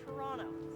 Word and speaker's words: Toronto: Today we'll be exploring some historical landmarks around our beloved city, Toronto. See, the proper way to say it, the second T is silent. Today we're here at Toronto Union Station, and I'm going to tell you some cool fun facts about it.